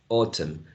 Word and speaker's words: autumn: And autumn. And then we have a schwa in the unstressed syllable here. Autumn. And we get until so the final is not pronounced, right? It's not pronounced.